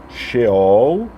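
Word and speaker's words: שאול: original no caso hebraico então xol é como se fala essa palavra lá na língua hebraica bem e o que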